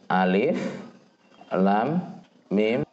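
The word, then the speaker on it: الم: diharok Ati nggak dibaca alamat ini cara bacanya adalah sebut namanya Alif Lam Mim Adapun maknanya Sebagian ulama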